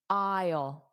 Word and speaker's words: aisle: Don't look at the spelling, because the spelling and pronunciation are different. So, close your eyes and listen to the pronunciation. aisle aisle. So, I ol aisle aisle.